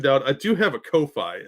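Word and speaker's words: Ko-fi: I do have a co Phi as well or coffee as some people pronounce that link is right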